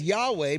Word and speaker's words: Yahweh: right praise God it says Yahweh pronounced yahwe or Jehovah is God's